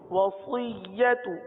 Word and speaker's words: وصیت: واو زبر و، صاد یا زیر صی، صی، سی نہیں پڑھیں گے، صی، وصی، یا زبر یا، وصیہ، تا پیش تو، وصیت وصیت.